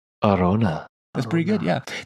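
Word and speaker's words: Arjona: Larona. No, it's just there's no la. It's Oh. just Arona.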